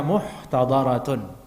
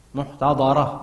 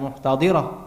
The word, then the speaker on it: muhtadaratun: Muhtadaratun, ejaannya muhtadaratun, bina lil majhul. Muhtadarah bukan muhtadirah, muhtadaratun.